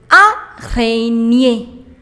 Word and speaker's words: araignée: Spider, une araignée. Une araignée. So whenever you have GN together, you do not pronounce G. It's N.